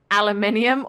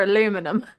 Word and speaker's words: aluminium: important question is it aluminium or aluminum well I mean if you're so regionally it's I mean if you're matching the spelling it is aluminium but we don't say it like that yeah that's what I